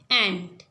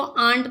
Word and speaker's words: ANT: अच्छा, दूसरा है हमारा ANT, एंट। एंट का मतलब होता है चींटी। चींटी, ठीक है। आप इसको आंट मत पढ़िएगा, इसे एंट पढ़ते हैं। इसकी सही प्रोनाउंसिएशन जो है एंट है।